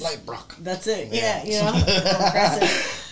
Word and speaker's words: Leibrock: It's German, so yeah. However Germans pronounce things. Leibrock.